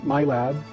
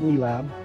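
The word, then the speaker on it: MILAB: what is known as the My Lab, some pronounce it Me Lab, programs.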